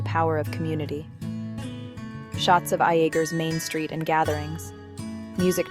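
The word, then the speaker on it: Iaeger: Iger, pronounced yer, was built on coal, and the railroad now struggling as both have faded.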